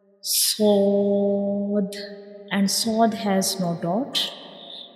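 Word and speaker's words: ص: We will read these 2 letters with a heavy sound. These 2 letters are bold letters, and sod is also a whistle letter.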